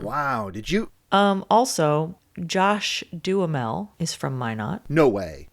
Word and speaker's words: Duhamel: Well, for a long time, I was just saying Duhamel. Yeah. But I think it's Duhamel because Timothy Oliphant pronounced it that way when he was on Conan.